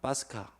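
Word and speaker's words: Pascha: 영어로 패스오버나 히브리어로는 파사인데 이것을 지금 이제 카톨릭에서는 파스카라고 읽습니다. 파스카.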